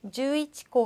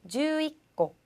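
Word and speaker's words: 十一個: 가끔 발음상 주이치코 하면은 조금 발음이 힘들잖아요. 그래서 주이코 이런 식으로 약간 이 발음이 초금으로 바뀐다 이런 것들이 있다는 것만 기억을 하시면 되겠습니다.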